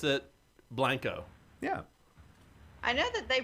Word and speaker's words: Blanco: I just pulled it up on Wikipedia, and the pronunciation is B-L-A-N-G, Blang, K-O-H, Co.